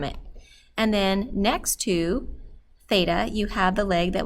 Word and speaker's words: theta: Theta is pronounced T-H, or is spelled T-H-E-T-A, so you hear a T-H sound, not an F sound, theta, and that's just a Greek letter that we commonly use when we're talking about angles.